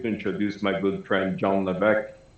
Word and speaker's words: Levesque: or levesque it is levesque it is a silent s i don't know why there's an s there that you don't pronounce but that is how